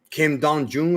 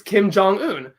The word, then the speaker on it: Kim Jong-un: who who's who's the president of North Korea Kim Dong Jun or Kim Kim Jong I can never pronounce his name right it's it's it's Kim Jong-un president J president Kim Kim is his family